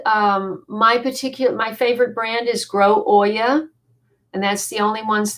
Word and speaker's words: olla: Um, well, OLLA is the Spanish way of saying it, but you pronounce it Oya.